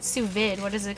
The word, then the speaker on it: sous vide: It's not sous vide. What is it called? Sous vide. Sous vide.